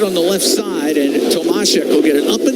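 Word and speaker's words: Tomášek: David has requested it is Tomashek. Yeah. Although, well, he was okay with either, but we had to press him a little. But Tomashek would be the proper pronunciation.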